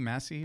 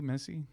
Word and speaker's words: Messi: Messi? Missy? Messi.